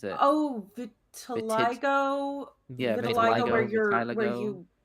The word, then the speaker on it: vitiligo: How do you pronounce it? oh vitiligo.